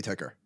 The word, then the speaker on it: ticker: tker tker well it's it's capital T capital k e r um now I'm sorry that has to be ticker okay regardless don't make